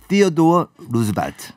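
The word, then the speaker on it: Theodore Roosevelt: 원어민 발음으로는 시어도어 루즈벨트.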